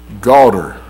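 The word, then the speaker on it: גדר: The word hedge is the word, and I know it doesn't look that way, but it's pronounced garter.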